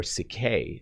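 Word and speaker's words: ψυχή: actually in greek uh it is psyche or cicay is how it's pronounced but psyche is literally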